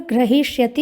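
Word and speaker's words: ग्रहीष्यति: लृट लकार का रूप है ग्रहिष्यति। यहाँ पर ध्यान रखना है कि हकार उत्तरवर्ती जो इकार है वो दीर्घ है, ह्रस्व नहीं है।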